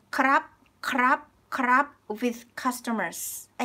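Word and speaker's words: ครับ: So we do not pronounce the rarua. So instead of saying krap, krap, which is like this way is correct. Krap is correct and formal, but in daily life, like people just say kap kap, kap kap kap kap kap.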